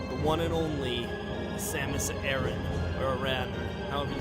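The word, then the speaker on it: Aran: name i don't know it's probably aaron but i'm gonna say iran like the entire game to annoy everybody okay because that's how most people would pronounce it and i might just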